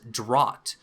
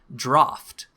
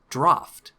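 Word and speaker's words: draught: have messages turned off it's actually pronounced draft so it's like draft is like the English word for draft like a draft b or something like that but it's pronounced draft I learned something new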